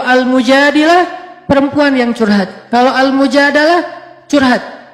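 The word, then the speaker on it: al-Mujadalah: perempuan yang curhat kalau almujadalah curhat Jadi tergantung kita bacanya Dilah atau dalah kalau kita baca Mujadilah berarti perempuan yang lagi cur curhat kalau kita baca adalah berarti curhat itu sendiri surat almujadalah berkisah tentang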